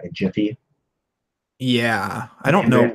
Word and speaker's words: gif: so here we go how do you pronounce jiff okay some money gift of the proper ways jiff just like giraffe gotcha see surely f